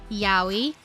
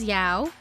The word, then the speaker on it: yaoi: a little disclaimer that I may pronounce yo E as Yao and manga as manga now this is a really bad habit that I've done for years before I even learned how to properly say it and I apologize to